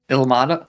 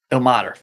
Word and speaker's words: Ilmater: Ilmata? Is that how you say it? Line. El Mater. El Mater. Ilmater.